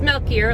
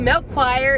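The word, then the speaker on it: Melchior: all of christmas lake it is balthazar uh melkier and casper and it is milkier a lot of people ask well i don't know if that's the correct way that's the local way but milk choir is sometimes how it's pronounced and another thing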